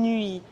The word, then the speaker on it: nuit: Le son « ui » du mot « nuit » pourrait s'écrire phonétiquement en anglais « nu-i ». On le trouve dans quelques mots courants comme « huit » ou « huile ».